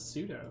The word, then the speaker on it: sudo: SK learn SK learn how do people pronounce sudo shoe do Oh sue - oh I guess it's super user deuce that makes sense sudo su do this is probably this is the more correct way this time I don't